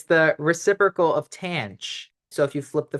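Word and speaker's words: tanh: we have hyperbolic t this is pronounced tan it rhymes with ranch and tan is just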